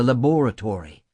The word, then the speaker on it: laboratory: this instant for the laboratory." Accent on second syllable like in masterpiece theater, with the rest being history.